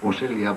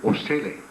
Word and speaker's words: Osilla: It's supposed to be pronounced as Osilla, but now it's pronounced as Osilla, or sometimes maybe Osille. Osille.